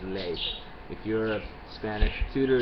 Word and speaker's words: ley: a in Spanish, like ley. So instead of ley, they will say le, where the pronunciation is ley.